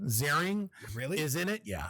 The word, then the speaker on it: Ziering: Ian, or I just found out it's pronounced Ian Ziering.